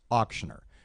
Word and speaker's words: auctioneer: And it's the hummingbird sing, or mockingbird sing, okay? Where they start off and they go, auc, schnur, auc, schnur, and that's how you can remember. So you take the lead, and then I'll do the other part. Okay, auc. Yeah. Schnur. Yeah, see, that's how you say it.